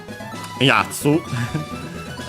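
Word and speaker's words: 奴: ironna Still an adjective Yatsu We've seen it before Guy fellow Chap accent on the first mora In colloquial usage also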